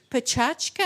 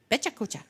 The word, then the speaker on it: Pecha Kucha: Because I've heard Pechachka, I've heard Pecha Kucha, I've heard all kinds of things. Pecha Kucha. Okay, thank you.